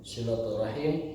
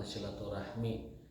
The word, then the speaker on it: silaturahim: bab ke-28 hadits ke-56 silaturahim silaturahim itu dapat menambah umur menambah usia sekedar sekedar mengoreksi pelafalan yang benar itu bukan silaturahmi tapi silaturahim teman kita sudah sudah latanya